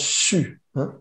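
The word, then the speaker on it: xu: son du foie c'est s'écrit x u ça se prononce su donc le son c'est officiel c'est que mais ça se prononce comme si on disait chut je sens cette et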